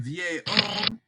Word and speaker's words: vieil homme: But we want to say un vieil homme. The H, remember, is silent.